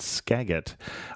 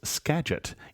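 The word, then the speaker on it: Skagit: county in Washington is scet even though it's spelled with a G it's pronounced with a soft G Robin said otherwise great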